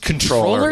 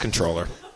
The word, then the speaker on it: comptroller: Did you know it's pronounced controller? It's pronounced controller.